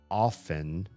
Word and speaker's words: often: And that made me look up often often to see if the T needed to be pronounced. And in fact, the T in that word is pronounced as regularly as the T in soften.